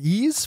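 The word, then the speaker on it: Eaze: Ease is super strict about staying in compliance with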